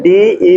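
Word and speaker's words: debt: डी हा डे पढ़ते उसको पढ़ते क्या है डीई बीटी डीई बीटी इसको क्या पढ़ते डे ठीक क्या प डे इसमें भी बी लेटर हमारा साइलेंट ठीक है बी लेटर हमारा क्या बिल्कुल य साइलेंट है और भी कोई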